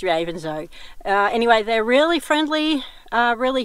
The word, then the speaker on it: Ravenshoe: I asked them, how do you pronounce this town, and they say it's Ravenshoe. So it's not Ravenshoe, it's Ravenshoe.